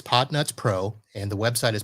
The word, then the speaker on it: Podnutz: guys talking about so potnuts pro is the podcast for it business support and the only real catch you have to know is that pod nuts is spelled p p-o-d-n-u-t-z but it is potnuts pro and the website